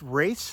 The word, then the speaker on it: Roess: of the volunteers that it's pronounced race there's not an A in it it's r o s but I guess that's race so Mike race goldhead Branch State Park